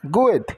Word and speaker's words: good: Então fez did bem good os dois Ó tem o som de u good para for nós